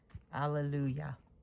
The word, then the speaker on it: Hallelujah: The H is out of there. my personal opinion only you guys. Uh it's just I like to research things like this. Allelujah.